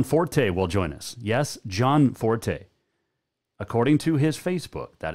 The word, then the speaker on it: Gianforte: and greg john forte will join us yes john forte according to his facebook that is how you pronounce it it is not gianforte it is john forte so we'll talk to uh the governor elect